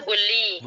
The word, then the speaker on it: 분리: Bunri itu bacanya bully. Bully dari pertama. Oh iya. Double L. Jadi niannya diubah menjadi real.